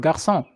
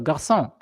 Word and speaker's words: garçon: In French, for example, the C with a little hook underneath, whatever it's called, I don't remember, is used to denounce the sound S. So, like in the word garçon, it's spelled G-A-R-C-D, as